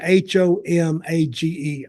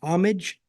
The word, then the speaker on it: homage: they're they're doing a how do you say h o m a g e homage homage well I'd say homage but you probably say pay homage well I don't know what to say but that's what they're